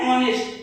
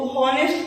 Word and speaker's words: honest: जैसे एन ऑनेस्ट, HONEST है तो हॉनेस्ट तो नहीं कहेंगे ना, ऑनेस्ट कहते हैं।